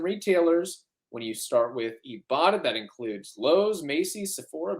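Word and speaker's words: Ibotta: online Brands and retailers when you start with ebata that includes Lowe's Macy Sephora Best Buy and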